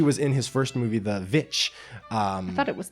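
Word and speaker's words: The VVitch: in his first movie, The Witch. I thought it was The Witch. It's technically both. Okay. It's spelled VV, but most sites just put it as The Witch, but really it's The Witch.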